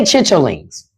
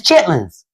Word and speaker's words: chitlins: Uh and we don't we don't say chitlings. Valerie, you got you got to write it as chitlins. It make me feel wrong putting all those syllables inside of it when I say it.